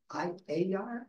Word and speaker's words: Ayar: call it, I'm pronouncing it correct, is it Ayar? How is it actually pronounced? Yeah, Ayar Labs.